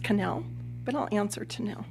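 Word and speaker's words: Knell: your last name yes my last name is spelled k-n-e-l-l and it's pronounced canel but i'll answer to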